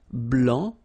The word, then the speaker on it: blanc: here okay so here masculine BL don't pronounce the final C and then blanch okay